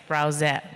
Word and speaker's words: Brauza: Andre, this time you said it right. It's BrauZa, which is actually an old a German word for carbonated drink.